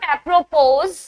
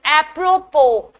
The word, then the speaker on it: apropos: 27 is apropos. It's not apropos. The OS is silent. Specifically, the S is silent. It's apropos.